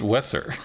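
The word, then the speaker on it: Weser: doesn't matter we're calling the new york it's pronounced wesser it's pronounced like it's pronounced ah yes you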